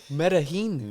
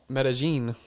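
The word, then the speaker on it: Medellín: Medaheen. Medí. You know, all the Americans say that. Medigene.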